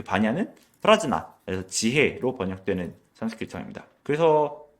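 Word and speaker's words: प्रज्ञा: 그리고 여기서 얘기하는 그 반야는 프라즈나, 그래서 지혜로 번역되는 산스크리트어입니다. 그래서 바즈라 체디카 프라즈나였을 거예요 아마도. 원래 산스크리트어에서의 발음이 금강인데.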